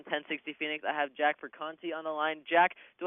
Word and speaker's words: Perconte: And then once again, it's Jack Perconte, you said? That's how you pronounce it? Perconte, yes.